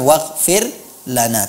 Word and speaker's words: waghfir lana: Kemudian pada pelafalan waghfir lana, jelaskan huruf ghain. Waghfir lana, ya, bukan waghfir lana, bukan waghfir lana, tapi waghfir lana.